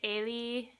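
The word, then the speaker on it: Ailee: Side note, guys, I know most people pronounce it Ailey, even announcers do. That's probably how she pronounces her name. I call her Eileen just because I read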